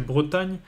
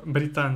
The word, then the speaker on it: Bretagne: a le e au début voilà donc la prononciation c'est Bretagne mais à cause de euh britanne qui j'ai déjà vu britagne j'ai déjà vu Bretagne avec eu u mais